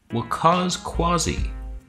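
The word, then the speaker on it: Waqas Qazi: guy what's his name will cause quasi that's how you pronounce that in case he didn't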